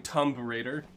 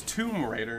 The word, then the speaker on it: Tomb Raider: like Tomb Raider but I I kept saying tumb Raider ah yes tumbrator my uh my favorite character from Tomb Raider is Laura Croft like no it's Tomb Raider and it's like then why is there a